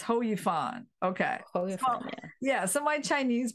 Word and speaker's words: Hou Yifan: yeah oh so okay so it's not it's it's ho it's ho you fun okay yeah so my